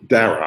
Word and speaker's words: Dara: They came up with Dana Khosrow. I'm still not sure how to pronounce it, but like Khosrowshahi, the former CEO. Dara or Dana? Dara, I'm sorry.